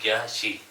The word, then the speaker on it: ज्या शी: हैं ना आप लोग, जपशी मैन इसका वो नहीं है, प्रोनाउंसिएशन जो है ना सही नहीं है। मैन इसका प्रोनाउंसिएशन है ज्या शी। ज्या शी मतलब ज्या मतलब 100, शी मतलब 4, ज्या शी बोलते हैं।